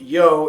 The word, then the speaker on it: YOW: And by the way, as a side note, yes, I am aware that Yao is actually pronounced Yo in Spain, but I'm just giving you the Americanized version of it.